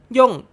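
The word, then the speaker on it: 四: มาก ก็ น้อย โดย เลข 4 ใน ภาษา ญี่ปุ่น นี้ ออก เสียง ได้ หลาย แบบ ด้วย กัน ออก เสียง ได้ ทั้ง ย่ง โยะ ชิ ครับ ส่วน คำ ว่า ตาย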